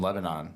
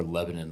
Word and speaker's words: Lebanon: In Lebanon. Yeah. Or Lebanon, the way they pronounce it. I always say Lebanon. It's Lebanon. Little New Hampshire lore for those.